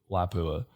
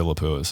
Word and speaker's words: Lapua: cartridge outside of 338 lapua lapua yeah i always say it wrong i say lapis uh sorry guys um